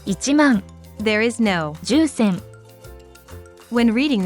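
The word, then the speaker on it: 一万: nine thousand only ten thousand is not ten thousand in japanese but it's ichimong there is no when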